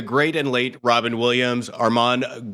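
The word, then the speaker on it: Armand: and late Robin Williams Arman Goldman the D is silent from the bird cage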